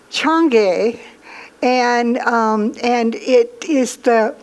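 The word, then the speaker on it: Chang'e: about and when I checked it out it's pronounced Chung gay and and it is the moon goddess now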